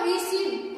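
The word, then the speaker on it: receive: इसको बोलेंगे रिसीव और इसको बोलेंगे डिसीव यानी कि जहां भी आई ई और ई आई एक साथ आता है तो ई का उच्चारण हम लोग क्या पढ़ेंगे? ई ही पढ़ेंगे। क्या पढ़ेंगे? ई पढ़ेंगे।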